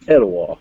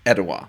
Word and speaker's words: Etowah: how you pronounce it it's at a wall Etowah ok well it's close to actually it's very similar to the the capital city of Canada is Ottawa with an O so that's it Etowah